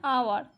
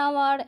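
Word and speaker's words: hour: এখানে যেমন অ্যান আওয়ার, এখানে কিন্তু এইচের উচ্চারণটা উজ্জ আছে, এইচটাকে আমরা বাদ দিয়ে উচ্চারণ করছি। অ্যান আওয়ার, an honourable, an honest,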